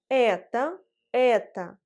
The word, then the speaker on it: это: Et dans les formes этот, это, эти, l'accent tonique frappe la voyelle E. Et sans accent tonique, la voyelle O se prononce A. Ce qui nous donne это.